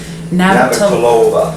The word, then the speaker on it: Navratilova: Martina how the heck did you pronounce her last name again? Navratilova.